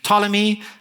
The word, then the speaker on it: Ptolemy: to them so firstly Ptolemy spelled with a p but you don't say the p apparently Ptolemy seleucus Lassa makers and